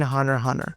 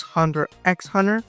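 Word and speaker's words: Hunter × Hunter: All right, starting with level one, the X in Hunter Hunter. Yeah, first things first, you do not pronounce X in Hunter Hunter. Okay, it's Hunter. Hunter. If you pronounce Hunter X hunter, you are legally wrong.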